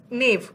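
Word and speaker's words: knave: नेव, के साइलेंट है, KNAV, ये नेव है.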